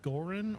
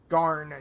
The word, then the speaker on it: Garn: Was that Goran or Garn? It is Garn, Garn.